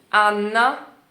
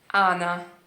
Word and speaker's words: Anna: Escuta a diferença. Anna e Ana. Anna e Ana. Completamente diferente. Tá ouvindo? Muito diferente. Se é pra falar o Anna, Anna, de novo, você vai prensar sua língua no céu da boca. Anna, n. Em vez de falar Ana, Ana, Ana, Ana.